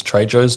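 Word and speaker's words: Trejo: Um, how much fun was it being Danny Trey Joe's Treyjo's daughter in the Treyjo?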